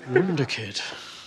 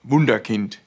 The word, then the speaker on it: Wunderkind: Pronounced Cruyff. Oh, okay, Englishman. Wunderkind. And because of you saying that instead of Wunderkind, which is the proper pronunciation.